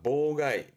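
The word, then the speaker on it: 妨害: 보가이, 보가이.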